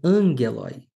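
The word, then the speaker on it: ἄγγελοι: Ela começa por vogal. Se começa por vogal, recebe um espírito. Neste caso, é um espírito brando. Então, eu não modifico a pronúncia do alfa. E, ao lado do espírito brando, tem um acento agudo. Então, angeloi.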